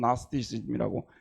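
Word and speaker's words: Gnosticism: 영어로 나스티시즘이라고 하는데지를 앞에다 써 놓고도 발음은 나스티시즘이라고 이렇게 번역을 합니다.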